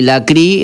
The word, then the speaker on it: Lecrae: desk de escritorio y la cri es lecrae la presencia se dice la CRI porque obviamente como lo pronuncian, ¿no?